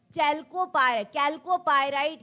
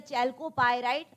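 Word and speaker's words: chalcopyrite: ठीक है, कैल्कोपायराइट या चैल्कोपायराइट, आप जैसा भी प्रोनाउंस करें, कैल्कोपायराइट ये है कॉपर का, कॉपर का ओर है।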